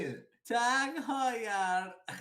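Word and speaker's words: Heuer: No, Tag Hoyer. Dude, I thought it was Tag Moyer. I'm still saying the watch's name wrong. It's an H, not an M.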